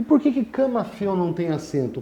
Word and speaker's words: camafeu: E por que camafeu não tem acento? Camafeu é ditongo tônico no eu, pela pronúncia. Repara que ela é aberta e não fechada.